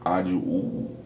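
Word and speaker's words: Adwoa: Phonetically, today is Ajua, or Ayana Ajua.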